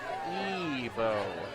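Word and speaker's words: Ibo: Spelled I-B-O, but pronounced Ebo.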